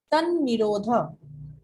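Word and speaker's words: तन्निरोधः: तन निरोध। तन तन निरोध। बेसिकली दिस प्रोनाउंसिएशन इज तद। अभ्यास वैराग्यभ्याम तन निरोध, बट प्रोनाउंसिएशन ऐसा ही होगा।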